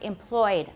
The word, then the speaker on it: employed: trouble with the word employed a lot of you wrote three syllables for employed and it's just two dabbed a lot of